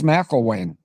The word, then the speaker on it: McElwain: But her name's a little hard for me to pronounce because when I do the first syllable, I try to say Connell, McConnell. But she's McElwain.